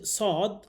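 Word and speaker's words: صاد: রব্বিলমালমা রব্বিশলি সর্বপ্রথম যে হরফটি আমরা পড়ব এটির নাম হচ্ছে সদ সদ।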